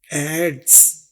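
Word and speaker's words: adze: की आवाज ड और फिर जड की वाज ई की कोई बाज नहीं है एड्स लेकिन ई का इस्तेमाल किसी खास वजह से यहां पर मौजूद है ई की आवाज तो नहीं है लेकिन स्पेलिंग में आपने ई लगाना है एड्स देखिए कुल्हाड़ी चलिए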